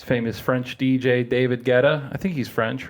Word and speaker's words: Guetta: I think I was corrected about it within the last couple months. Were you? And that's how I landed on Guetta.